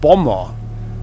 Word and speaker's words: bomber: So, you don't speak or you don't pronounce the second B.